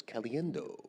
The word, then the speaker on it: Caliendo: the pronunciation guide that Tom Brands decided to tell us that it was Caliendo. I'm gonna, Galiendo. Caliendo. It's the only name I think that Brands takes charge of the pronunciation for. Yes, and everybody else does